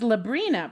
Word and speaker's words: Librina: My name is Librina, pronounced like the teenage witch, but with an L.